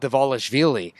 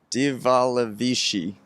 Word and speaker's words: Dvalishvili: at UFC 298 between Henry Cejudo and Merab Dvalishvili? Do you like the way that Henry pronounces Merab's name?